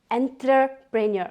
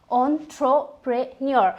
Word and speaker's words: entrepreneur: look at the word entrepreneur it sounds like enterpreneur but in real we pronounce it as ontropreneur so we will use it as entrepreneur okay